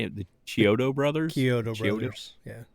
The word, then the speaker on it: Chiodo: Chiodo Brothers. Yeah. Chiodo Brothers.